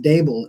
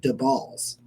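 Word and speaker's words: Daboll: uh in case you're curious it's it's not pronounced dable it's the balls that's what he told me it's it's the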